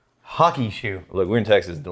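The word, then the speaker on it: Hakushu: uh now i think the locals call it hakishu yeah they pronounce that u with a y it i don't know why it's just something about the phonetics actually so it's hockey hockey like like hockey sticks hockey shoe look we're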